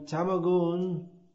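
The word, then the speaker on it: tamoguna: In Bhagavad Gita, Lord Krishna states that from tamaguna is more correct pronunciation.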